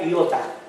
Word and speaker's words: iota: Es una letra que se pronuncia iota, pero no es una I.